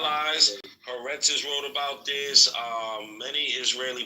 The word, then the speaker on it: Haaretz: It's pronounced Haaretz, you idiot. That's what I told him. Haaretz, you fucking white.